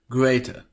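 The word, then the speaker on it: grete: But no, it should be pronounced as greater or greater.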